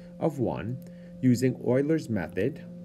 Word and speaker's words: Euler: find the approximation of y of one using euler's method it's spelt this way but it's pronounced euler with